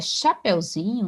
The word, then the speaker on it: chapeuzinho: Chapéu é acentuado, agora chapeuzinho não é acentuado, até porque é o zin que é a sílaba tônica.